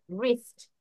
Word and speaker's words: wrist: বানান খেয়াল করো, W দিয়ে শুরু হয়েছে, বাট প্রোনাউন্সিয়েশন আর থেকে হচ্ছে, রিস্ট।